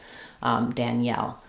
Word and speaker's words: Danielle: So the E keeps its sound here, like in red, Danielle.